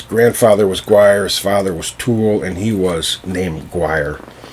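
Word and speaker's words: Tuathal: had a son named tool and that's spelled t-u-a-t-h-a-l but it's pronounced tool pretty close to tool so tool was known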